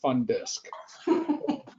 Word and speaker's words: FNNDSC: The abbreviation is FNNDSC, which I pronounce FunDisc.